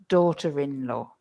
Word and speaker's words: daughter-in-law: The R starts to be pronounced again. Mother-in-law, father-in-law, daughter-in-law.